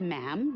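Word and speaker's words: ma'am: majesty and after that it's just mam rhymes with jim and it's always a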